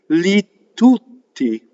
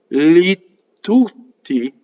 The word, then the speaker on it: tutti: Li tutti. You see? I did slight double T. Li tutti.